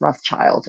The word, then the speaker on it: Rothschild: I guess that's pronounced Rothschild in modern English instead of the German way.